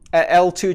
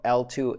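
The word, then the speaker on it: eltoo: that this upgrade will come to bitcoin eventually l2 channels are much better in a number of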